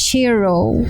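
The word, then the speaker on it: Cheiro: I think it's called it's pronounced Shiro something like this what a talented man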